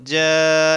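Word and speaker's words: جَاءَ: আলিফ পরিমাণ টানতে হবে এরপরে জিম আলিফ জবর যা এখানেও জবরের বাম পাশে খালি আলিফ কিন্তু এই বামে হামজা আসার কারণে এখানে চার আলিফ টান হবে এটাকে মধ্যে মুত্তাসিল বলে এই যে উপরে চিহ্ন দেওয়া এটা থাকলে চার আলিফ পরিমাণ টেনে পড়তে হয় নুন সদ জবর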